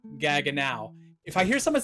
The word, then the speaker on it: Gaggenau: heard people mispronounce it gago. Anthony, it's a German brand. Gaganow is a German brand, so it's pronounced Gagan now as in how now brown cow. Gaganow. If I hear someone say Gaganau one more time, you're